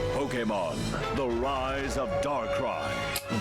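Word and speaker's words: Darkrai: Pokemon the rise of dark cry. Dark cry. Thank you. Now I know. I always say it wrong. I always said dark ray.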